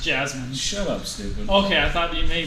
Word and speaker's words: Jazmine: out on accident would be jaming Jasmine it's pronounced Jasmine shut up stupid okay I thought you maybe